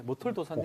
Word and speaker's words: 머털도사: 예, 머털도사님. 괜찮지. 오케이, 좋다, 지금부터 좋다. 구름도사가 아니라 머털도사. 발음 똑바로 하고. 머털도사. 뭐의 악센트.